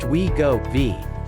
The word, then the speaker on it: Wegovy: Wegovy, pronounced Wegovy, is a synthesized version of a gut hormone that curbs appetite.